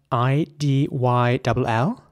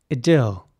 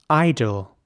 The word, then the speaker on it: idyll: is spelled I-D-Y-L-L, and in British English, this would be pronounced idyll, with an E sound, idyll. And in American English, it would be more like idle, where the I at the beginning is actually pronounced like an I, so idle.